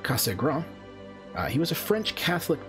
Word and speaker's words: Cassegrain: about the schmidt cassegrain because he was french i believe it would actually be would be pronounced laurent casagram he was a french